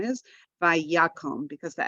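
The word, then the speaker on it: ויקם: Vayakum. Good. So we have the vi, we have ya. Accent is on ya.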